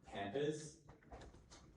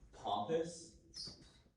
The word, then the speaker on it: pampas: Your word is pampas, pompous, pompous. Can I have all the information, please? Of course. The pronunciations are pampas, pampas, pompous.